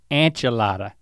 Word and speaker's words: enchilada: They actually have enchiladas as sides too. Now you don't say that word right. Quesadilla? The other one. Enchilada? Yeah, it's not an inch, it's an anch. Enchilada.